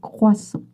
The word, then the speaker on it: croissant: Just remember that you don't pronounce the T. Even if you have some trouble with the creux, it's croissant, not croissant. Un croissant.